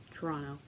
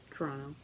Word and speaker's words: Toronto: If you pronounce the second T in Toronto, you obviously don't live in Toronto.